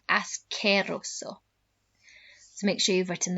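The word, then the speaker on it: asqueroso: try that ascerrosso so remember qu in spanish never makes a qu sound it's always a c sound as queroso so make sure you've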